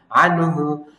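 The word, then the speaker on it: عنه: করা যাবে না হ্যাঁ তাহলে কি বলবো আনহু আবার আং বলেন না আন বললে এটা কি হবে ইকফা হয়ে যাবে ইকফা না এটা ইজহার স্পষ্ট আনহু মালুহু মালুহু মা তে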